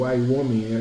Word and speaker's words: Wyoming: Não é o Maine, tá? É o Wyoming.